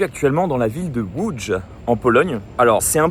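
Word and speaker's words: Łódź: Alors c'est un peu perturbant parce que si vous regardez sur la carte, ça s'écrit Lods pour nous en tant que français. Mais là non, ça se prononce bien w.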